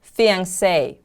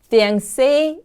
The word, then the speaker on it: fiancé: Next word is fiancé. Fiancé is a noun. Fiancé is the man to whom she is engaged to be married. Fiancé. The stress is on the last syllable.